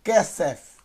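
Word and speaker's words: כסף: Então eu tenho kesef, kesef, K mais E, primeira sílaba, Samer mais E mais F, kesef, ok?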